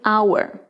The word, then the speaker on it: hour: Nesse caso, o H é mudo, a letra é silenciosa, não vou falá-la. Sendo assim, eu vou passar para o O. Essa palavra se dá por hour.